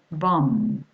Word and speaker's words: bomb: When you've got the combinations of the two letters KN, MB, or WR, the K, the B, and the W are mute. That's to say you do not pronounce them.